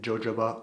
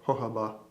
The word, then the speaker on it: jojoba: ingredients beeswax lanolin and jojoba oil or jojoba oil depending on how you want pronounce things and these are all